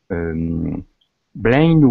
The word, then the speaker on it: blind: Yeah, it's actually pronounced like a long I. Blind. Blind. Blind woman. Blind woman. It's sort of an exception. It looks like blind or bleep. Something, but we pronounce it blind, so she can't blind see.